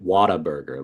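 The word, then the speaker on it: Whataburger: what a burger but everybody calls it Water Burger like it's like water I don't know why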